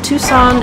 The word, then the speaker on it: Tucson: state name arizona while we're at it so tucson is an interesting pronunciation because it doesn't really make sense we